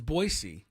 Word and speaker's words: Boise: when the Aztec host boisey not Boise boisey but I think 90% of people pronounce it boy Z and that's not correct I've been told boyy